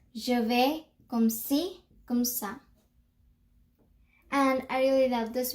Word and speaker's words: comme ça: So I hope that you also see this, and just remember that when you say comme ça, there's an accent mark, so, which will allow you to pronounce it, to say it as sa and not ka.